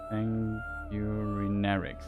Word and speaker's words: Sanguinarix: Sanguinarix, that's how it's pronounced.